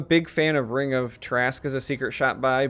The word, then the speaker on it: Tarrasque: And speaking of other items that had their cost reduced, Ring of Tarrasque, I've heard it pronounced a number of ways. I always say Tarrasque.